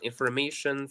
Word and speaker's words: information: Information, for example, IPA. Same thing. All right. If you notice, it's the same thing. So information, there is an apostrophe before may, meaning that the stressed syllable is may.